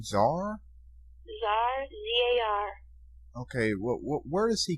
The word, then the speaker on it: Zar: How did you pronounce his name? Zar? Zar, Z-A-R.